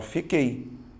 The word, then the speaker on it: fiquei: um tritongo só que pare e pense e pronuncie você fala fico oi ou você fala fiquei você fala fiquei certo você vai notar que o som do U não aparece ou seja você tem